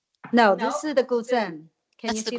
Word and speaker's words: guzheng: And then when I came here, I myself I learned another instrument, the guzheng.